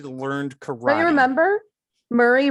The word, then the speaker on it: Murray: Murray rhymes with Yuri.